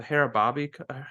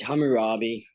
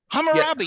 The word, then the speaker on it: Hammurabi: the book or not, but is it the Harababi? How is it pronounced?